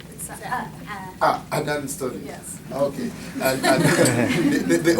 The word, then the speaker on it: Cadaan: And oh, by the way, Adan Studies, right? The C is silent. Adan Studies.